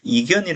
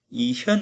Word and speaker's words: 이현: 잘해 준 거죠 그래서 이현 이라고 이어 키스는 이견이 라고 읽으면 언제 어 주역의 내용을 잘 모르는 것이고 이현 이라고 읽어야 한다 라는 겁니다 이 현으로 잃는다면